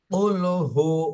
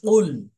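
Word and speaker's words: قُلْ: হয়ে যাবে এজন্য এখানে কাফ বলবো না আমরা কফ গলার মাঝখান থেকে উচ্চারণ করব কফ কফ লাম পেশ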